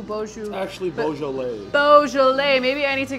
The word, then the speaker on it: Beaujolais: Bijou, Beaujolais. Actually, Beaujolais.